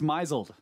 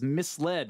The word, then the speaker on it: misled: mislead has not pronounced myzel I have heard you read that several times it is misled as in to be led astray don't tell me this